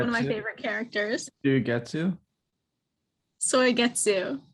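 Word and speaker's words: Suigetsu: Soigetsu. Like soy or soy. Soigetsu.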